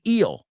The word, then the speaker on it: eel: The first one is eel. Eel. Eel, say it with me, rhymes with feel. Rhymes with real. Rhymes with steal. Rhymes with Jessica Biel, la actriz. That's the first thing that came to mind. Hey, not a bad thing to pop into your mind. Jessica Biel, okay? Eel, seal, sellar o sello. They all rhyme with eel.